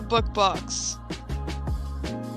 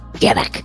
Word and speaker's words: Dybbuk: I want to talk about the book box. You mean Dybbuk? No, it's the book. It's Dybbuk. Anyway, continue with your mispronunciation.